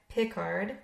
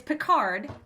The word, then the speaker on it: Picard: well you put it you put a different emphasis on the words on the wrong side oh wait wait what did what is it it's it's picard captain what did i say picard you said pickard pickard